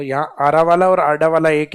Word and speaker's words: अरावली: अब लिखने में इसको इंग्लिश में डी को आर लिखते हैं, तो ये हिंदी में जब प्रोनाउंसिएशन होता है तो कई बार किस नाम से आता है, आरावाला, कि आरावाला माउंटेन। आरावाला माउंटेन कहाँ है, तो ये आरावाला नहीं आडा वाला है, तो यहाँ आरा वाला